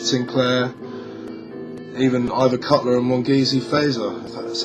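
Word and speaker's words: Mongezi Feza: laurie allen richard sinclair even either cutler and mongeasey fazer that's how you say his name making appearance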